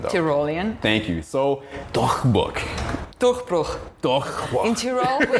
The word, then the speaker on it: Durchbruch: And it's actually pronounced Durchbruch. Well, you know, Durchbruch.